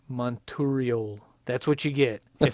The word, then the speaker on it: Monturiol: No, it's Monturiol. Monturiol. That's what you get. If somebody has a pronunciation, they can send it to me.